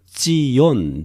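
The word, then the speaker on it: ציון: 위하여 쉬지 아니할 것인즉 시원 이라고 하는 것은 히브리어로 찌 이언 지원 이렇게 발음 하고요 예루살렘은 이에 루샤 라임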